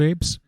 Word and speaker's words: AIP: improvement proposal or aip you pronounce that and it's ape so that's what i'm